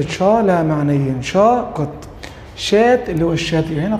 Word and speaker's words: chat: طبعا بقول لك كلمة شا من اصل انجليزي بمعنى دردشة تتنطق شات وبرضه معناها قط تتنطق شا يبقى شا قط شات اللي هو الايه اللي هو الشات.